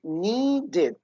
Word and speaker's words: needed: So the word need, in the past, we say needed, did, needed, okay?